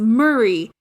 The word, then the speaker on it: Murray: the word M-E-R-R-Y is pronounced the same as Murray, M-U-R-R-A-Y.